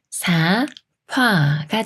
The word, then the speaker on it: 삽화: 만났으니까 비침과 피이 피읍 수리인 프로 바뀌기 때문에 사파가 돼요 사파 사파이 암말은 너 혀가 맞을까요 아니면